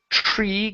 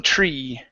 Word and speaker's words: tree: Next is tree. Give me a long E sound instead of tre. Okay, and approaching tree.